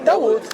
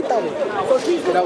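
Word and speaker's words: داود: How do you say David in Arabic? Dawood. You should say Dawood.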